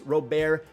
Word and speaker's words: Robert: to Dalton varsho Luis robare that's how you say it it's not Robert I feel like he's